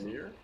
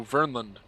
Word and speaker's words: Vernland: Vermeer? No, Vermeer. no, Vernland. Vernland, okay.